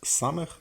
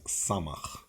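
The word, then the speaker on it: ס: This also has two pronunciations. Sometimes samech, sometimes samach.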